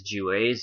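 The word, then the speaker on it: Juwes: the juas j-e-w-a-e-j-e-w-e-s it's not pronounced Jews it is jewes and it collectively refers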